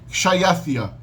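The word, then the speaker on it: xšāyaθiya: A gente sabe que a pronúncia hoje é Kshayathia, né? Kshayathia é a palavra em persa antigo para rei.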